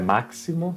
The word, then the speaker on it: máximo: Pronunciar como se fosse uma S. Máximo, não é máximo, será um máximo.